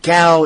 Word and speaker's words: Tso: Is it Gao? Is it Cho? Tsao? Everywhere spells it differently and everywhere pronounces it differently. Yes. Up here it's generally pronounced G-A-U.